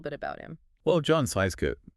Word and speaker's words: Scieszka: Well, John Seiska is pronounced shishka by the way.